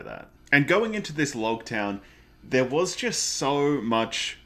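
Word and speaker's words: Loguetown: In that the town is pronounced like prologue, so Logtown, and this whole East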